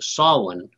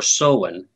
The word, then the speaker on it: Samhain: And for those of you who may not know, Halloween, of course, the real name it's spelled Samhain, but it's pronounced Samhain or Samhain.